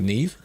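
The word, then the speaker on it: Niamh: There is another name that I'm aware of where it is Neve, I think, but it's like N-I-A-M-H. But it's pronounced like Neve.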